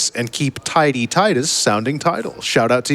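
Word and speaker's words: Tidus: and keep Tidy Titus sounding title.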